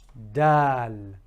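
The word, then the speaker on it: دال: from its first letter it is equivalent to our D in English pronounced from the exact same place the articulation is the same so it's just a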